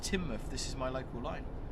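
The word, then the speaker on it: Teignmouth: It's pronounced Timmouth.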